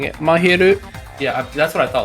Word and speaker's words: Mahiru: might be useful here I could actually pronounce mahiru correctly yes like I've heard it say makiru or Maki I think makiru is telling yeah